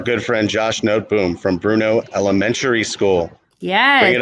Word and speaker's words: Bruneau: Don't ask me what I used to say it was, but it was not Bruneau.